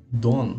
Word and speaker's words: done: Done. Done. Done. Pronuncie também a letra N.